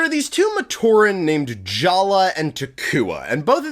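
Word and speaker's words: Jaller: Also, Jala's name is spelled like this, but it's pronounced Jala for reasons that humanity really has yet to fully understand.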